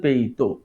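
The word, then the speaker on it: 北斗: এই মোহাম্মদ তৌহিদ সর জিজ্ঞেস করলাম যে এই যে উচ্চারণটা এই উচ্চারণটা কি? বেইডু নাকি? তখন সে আমাকে জানালো যে পেইতো। যেমন বেইজিং এর উচ্চারণ কিন্তু চীনা ভাষায় পেইচিং। বেইজিং বলি আমরা সেটাকেই চীনা ভাষায় বলে পেইচিং।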